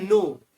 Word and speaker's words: know: नो में के silent रहता है, फर्स्ट लेटर।